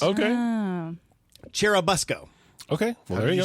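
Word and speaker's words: Churubusco: of course it's pronounced chair uh Busco like a school bus okay cherubusco okay whatever you say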